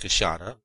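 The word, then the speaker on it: queixada: specimens of the big wh lipped Peary the kashada which is pronounced kashata of the Brazilians which would make our collection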